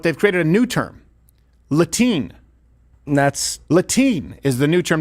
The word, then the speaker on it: Latine: So that's out, but they've created a new term, Latine. Latine is the new term they want to use. Latine. Not just Hispanic, not just, is it Latine? It's Latine.